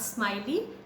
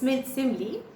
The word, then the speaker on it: simile: They are simile, not smiley, it's simile, metaphor, personification, apostrophe, oxymoron, hyperbole and onomatopoeia.